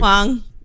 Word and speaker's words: Huang: I'm pronouncing Eddie's last name wrong for years. What's Eddie's last name, E? That's why I asked you. Huang.